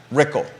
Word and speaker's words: Rickle: Whitehall District candidates Ann Malik versus Brad Rickle. Rhymes with pickle.